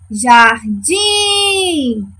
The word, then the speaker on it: jardim: E na palavra jardim, vamos chamar jardim. Quem é a nossa sílaba tônica? O din. Muito bem. O din é a última sílaba.